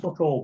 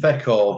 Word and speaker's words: Feck Hall: The fuck-all bar. No, the feck-all bar. Oh, sorry. Yes. Did I say it wrong?